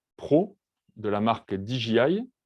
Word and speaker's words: DJI: Le drone de couleur blanche, c'est le Phantom 4 Pro de la marque DJI, ou DJI, si on le prononce à la française.